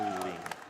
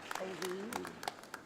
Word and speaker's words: Ouweleen: Davis - It's pronounced Ouweleen - Ouweleen? - Ouweleen - Christopher D.